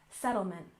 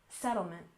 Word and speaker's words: settlement: finally we have settlement with stress on the first syllable settlement settlement and this is typically how